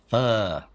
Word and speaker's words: pho: Fuh. Yes. Good pronunciation. All right. I try. I'm sure it's way off, but. I would, pho because Fo.